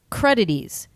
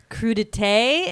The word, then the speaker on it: crudité: like raw vegetables and the woman goes credit ease credit which she is trying to say crudité if you've ever heard